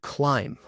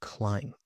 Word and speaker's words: climb: For example, in the word climb, the B is silent, climb.